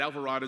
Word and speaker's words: Alvarado: They think of avocado and desperado and different things, but Alvarado is how you pronounce it, and I'm proud to